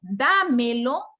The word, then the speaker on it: dámelo: también es pronombre pero cuando yo pronuncio yo digo dámelo automáticamente yo tengo que fijarme dónde está la sílaba tónica de esa palabra y yo digo danilo